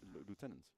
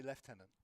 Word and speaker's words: lieutenant: We should pronounce it the German way. Loenant. Easy. It's lieutenant. Some people say left tenant.